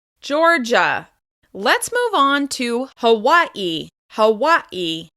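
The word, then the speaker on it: Hawaiʻi: You may hear people say Hawaii, and you may also hear native Hawaiians say Hawaii. You'll hear a glottal stop before the last syllable of this word, but it is stressed on the second syllable.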